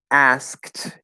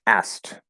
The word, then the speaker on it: asked: that happens um so asked is actually very commonly pronounced asked so it's going to sound like this instead asked so the k will basically turn into a t and you can stop